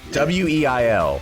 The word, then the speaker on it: Weil: I think it's pronounced Weil, but Weil.